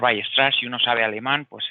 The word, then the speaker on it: Weierstrass: Se suele pronunciar Weierstrass.